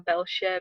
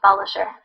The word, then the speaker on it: Belshire: Have I said that wrong? A little bit. What does it actually sound like? It's like Belshire. Okay, there we go. That's how you say it properly.